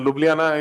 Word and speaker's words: Ljubljana: long winding so but it is fine and Ljubljana is the correct pronunciation so thank you it's a lovely place